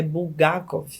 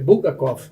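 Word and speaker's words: Булгаков: Doutor Alessio colocou aqui no chat que um escritor da era soviética muito interessante é Bulgakov. É assim que pronuncia?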